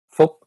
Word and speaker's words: Phuc: mentioned in your book the americanized version of your name which you adopted is pronounced correct right not actually how you pronounce your name it is not well not in vietnamese how would you how would one pronounce it correctly in vietnamese yes full okay and